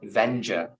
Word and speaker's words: Vendure: correct way to I I pronounce it venger venger okay but then do